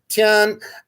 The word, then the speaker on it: Tian: sort of a universal order which is today pronounced tian and tian is not a person tian is